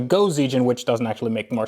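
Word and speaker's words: 5Zigen: And actually some of you commenters have told me that the 5 is pronounced go in Japanese, so it's actually Go-Z-Gen, which doesn't actually make more sense, but whatever.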